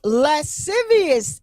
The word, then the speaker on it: lascivious: and more lewd and lascivious acts. I hope I said that word right. Lascivious. I think the C is silent.